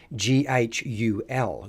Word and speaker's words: Ghoul: hone in on the Ghoul. That's right, Ghoul, or if we look back at some of how the pronunciation had changed over time, it was actually pronounced Ghul, Ghoul.